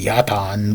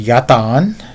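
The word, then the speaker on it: yatağan: it's actually yaton but yatagan is how it's spelled in English I am turkish-american but I you know don't live there but I know it's pronounced yatan and yatagan is how it's spelled um but what I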